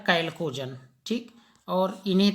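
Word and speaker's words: chalcogen: कैल्कोजन लिखते हैं चाल्कोजन, CHALOGEN, चाल्कोजन, लेकिन इसको आप पढ़ेंगे क्या? कैल्कोजन।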